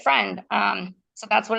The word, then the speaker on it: Phrend: Friend, but it's spelled Phrend. And so Thren, friend, in Greek, I'm Greek. So Hmm. in Greek means mind or brain.